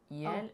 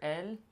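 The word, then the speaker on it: iel: Oh, how do you say it as a pronoun? Yel? Oh, yel. Yel? As opposed to il or el.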